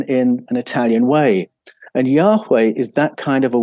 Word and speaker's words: Yahweh: And embedded in the Yahweh name are these two H's, a sound, which is almost silent the way we pronounce Yahweh today.